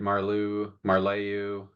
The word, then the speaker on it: Marleau: I get Marleau.